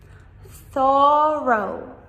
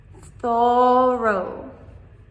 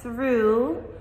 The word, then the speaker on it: thorough: Thorough. Thorough. A lot of people miss the first O, or they try to pronounce this as through.